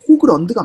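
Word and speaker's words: Haugeland: 어떤 사람은 호질랜드라고도 하고 어떤 사람은 하우겔란드라고도 하고 하는데 제가 이제 발음 기호를 찾아보니까 호그런드가 맞는 것 같더라고요.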